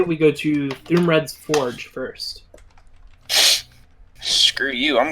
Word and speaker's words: Thuumred: There is Thumred's Forge, that is spelled Thuumred, Thumred's Forge. Davy's Curious Emporium, The Enchanter's Wonder.